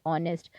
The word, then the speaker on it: honest: It's an honor because H is silent in these words. Okay, in these words H is silent, so we pronounce them like honor, honest.